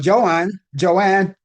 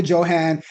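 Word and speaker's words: Johann: Joanne Zhan. Pronounced that Johan. That's Zeta Johan. And David Manners.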